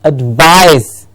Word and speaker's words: advice: a veil yes and next word very important advice advise yes what's the difference between the advise